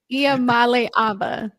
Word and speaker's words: Iamaleava: I'm gonna try to pronounce his name. Iama Labia. It's Iamaleava. Iamaleava.